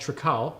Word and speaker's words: Trakal: So we have brought Dorothy here to try a new product that is based out of Colorado called Trakal. That's what we think this is pronounced.